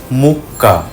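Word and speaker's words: mucca: আমরা একটা নিয়ম শিখেছিলাম, এ ও ইউ এর আগে সি এর উচ্চারণ হবে ক। একই নিয়মে দুটো সি বসলে হয়ে যায় কয় কয়। যেমন ইতালিয়ানে মুক্কা মানে গরু, তাবাক্কো মানে হচ্ছে তামাক।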